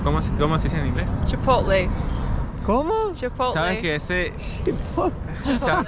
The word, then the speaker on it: Chipotle: Chipotle. ¿Cómo? Chipotle. ¿Sabes que ¿Sabes que es divertido? Porque ya he hecho reels pronunciando las marcas americanas.